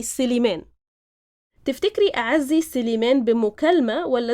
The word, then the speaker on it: سليمان: Actually, the name is Sulaiman in proper Arabic, in Fusha Arabic, but in Egyptian we say Siliman.